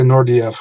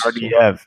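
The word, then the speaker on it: Naurdiev: I always say I say Nordiev always. Nardiev. Okay. I heard two different pronunciations online. I wasn't sure which one it was.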